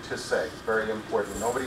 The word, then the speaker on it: Tisei: As was mentioned, well, I guess the first thing is you pronounce my last name Tisei, very important.